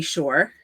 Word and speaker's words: Shore: So, for those people I haven't met before, my name is Shore. It rhymes with entrepreneur, and I have been an entrepreneur for close to 30 years.